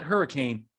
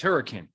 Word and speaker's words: Hurricane: It's not Hurricane, it's Hurricane. Okay, you want to know that you're an outsider? Okay, no, you say, how you doing? I'm from Hurricane. Right, Dallas.